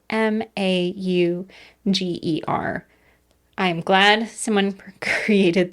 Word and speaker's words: Mauger: And we're going to talk about the disappearance of 21-year-old Olga Schultz Mauger. And for clarity for people who are interested in researching later, that is spelled m a u g e r.